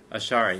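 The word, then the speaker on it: Ash'ari: How do you pronounce that, Steve? Ashari? Ashari, yeah.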